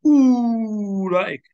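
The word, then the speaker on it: أولئك: Okay, then how to pronounce? We're taking this one today. Ulaika. So this is salam alis. La. This is hamza. The I. The kaf. The ka. Don't say ulaika.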